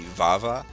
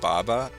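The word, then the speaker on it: ヴァヴァ: Well, his name is actually Vava, but since there's no V sound in Japanese, it's pronounced Baba.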